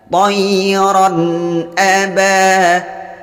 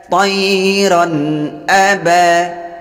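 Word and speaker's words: طَيْرًا أَبَابِيلَ: Maka membacanya bunyi tanwinnya dibaca dengan jelas serta tidak boleh dipanjangkan dan tidak boleh didengungkan. Tayran aba, tayran aba. Jadi dari bunyi ra langsung ke a.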